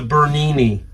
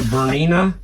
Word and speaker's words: Bernina: It's a Bernini, or Bernina. I say it wrong. It's a Bernina sewing machine.